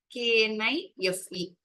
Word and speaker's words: knife: KNIFE இல்லையா? How do we spell this word knife? Laugh. This letter K is silent over here.